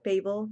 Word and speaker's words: Babel: I think Babel because it reminds me of the Tower of Babel, or Babel because it reminds me of the Tower of Babel. I have literally heard it pronounced both ways my whole life, but still associated with the same thing.